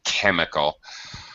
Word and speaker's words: chemical: okay um you got the ch has the k sound you're right chemical come out okay well